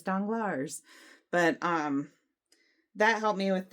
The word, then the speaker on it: Danglars: and audio because then I learned the pronunciations, like Danglars, I think, and I was like saying it danglers in my head, like super redneck, and it's like, no, it's Danglars.